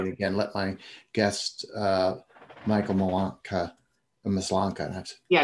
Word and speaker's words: Maslanka: Yeah, it's pronounced Maslanka.